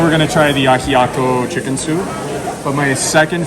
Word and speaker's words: ajiaco: ¿Cómo se pronuncia? Ajiaco. Ajiaco.